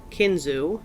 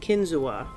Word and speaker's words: Kinzua: pronounced two different ways kinu as I have just said said it and Kinzua which I read was the way that some Native Americans say the word it is spelled k